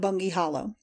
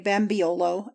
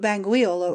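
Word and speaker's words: Bangweulu: of the water though I fear that our English folks will boggle at it or call it bangi hollowo. Some Arabs say bambiolo as easier of pronunciation but banguolo is the correct word.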